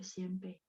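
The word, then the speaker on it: 先辈: Ini bacanya xianbei. Xian 1, bei 4.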